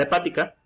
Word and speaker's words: hepática: Entonces, con enfermedad hepática lleva acento en la primera A, hepática.